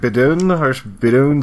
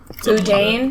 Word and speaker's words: boudin: I basically kept trying every form of like po' boy ever, and I found like what is it, like Bidoon, something like that. Boudin?